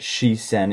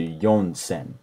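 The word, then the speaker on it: 四千: continue again with yonsen I've never heard she sen in my life I would definitely stick to yonsen and then the rest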